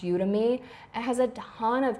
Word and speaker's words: Udemy: I really like called, I think it's pronounced Udemy.